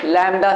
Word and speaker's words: lambda: मैंने अभी बताया किससे, लैम्डा से। इसका नेम क्या होता है, लैम्डा। लैम्डा तुमने स्पेलिंग देख लो लैम्डा की, अगर तुमने कभी